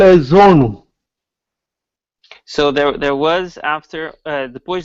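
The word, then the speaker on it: jono: It is called as zone. It is spelled as J-O-N-O. J-O-N-O, zone.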